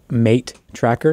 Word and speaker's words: M8 Tracker: i can't talk about a device called the mate tracker it's spelled m8 tracker tracker um i believe